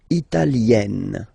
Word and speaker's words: italienne: L'Italie, italien, italienne. Remember, when you get this E followed by a double consonant like here, then you will have to open it. Italienne, italienne.